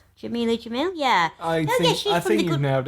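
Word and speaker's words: Jameela Jamil: And other people, other women, influential women on the front cover, they go from Jamelia Jamil. Is that how you pronounce her name? Jamelia Jamil?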